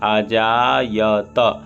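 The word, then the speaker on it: अजायत: ता हलंत नहीं लगा है इसलिए ता के बाद आ आना चाहिए, आजायत।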